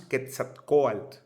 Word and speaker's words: Quetzalcóatl: Quetzalcóatl. En náhuatl significa serpiente emplumada, de Quetzali, pluma, y Coatl, serpiente, así se pronuncia.